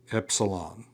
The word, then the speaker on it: epsilon: Epsilon. Your majuscule or your uppercase is going to look like our uppercase E. That is going to be a short E sound as in get, as in get.